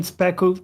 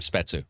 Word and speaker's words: Spetsu: Speku sparked a good discussion. Betsu! This one from Keep calling him Speku. We always mispronounce his name, Spetsu.